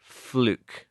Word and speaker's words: fluke: Like Luke Skywalker, fluke. That's how you pronounce it as well.